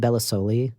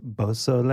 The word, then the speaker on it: Beausoleil: dream business owner, Bellasoli, did I get it right? Beausoleil.